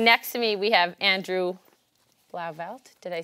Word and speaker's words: Blauvelt: And next to me, we have Andrew Blauvelt. Did I say yes. It right? Yes. We talked about this pronunciation.